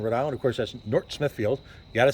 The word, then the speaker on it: North Smithfield: will of Northern Rhode Island of course that's North Smithfield you got to say it right folks you don't pronounce th it's North Smithfield uh but it really is the gateway to